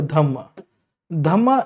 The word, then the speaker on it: Dhamma: दम तू follow my धम्मा इस दी प्राकृत वर्जन ऑफ धर्म पाली और प्रकृति में आर साइलेंट हो जाता है जैसे अब संस्कृत में